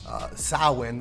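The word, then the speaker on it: Samhain: 1st to align with Sam pain or or sowing is how you pronounce it in the Celtic Druid sound so that they can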